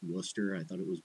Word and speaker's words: Worcester: Like, I don't even know that Worcester is pronounced Worcester. I thought it was Worcester.